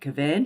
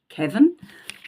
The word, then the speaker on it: Cavan: I actually thought that they would take me to, now I pronounce it Cavan, but I think it's pronounced Cavan, which is where my dad's family is from.